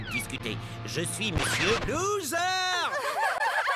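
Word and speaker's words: Zarr: Je suis Monsieur Loser. Mon nom se prononce Zar. Loser.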